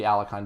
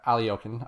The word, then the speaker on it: Alekhine: to experiment a bit so this is the alicon defense or aliyon i should say and um i get a